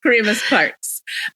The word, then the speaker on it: Kyremes-Parks: And last name is, is Kyremes-Parks. It's pronounced Kyremes-Parks.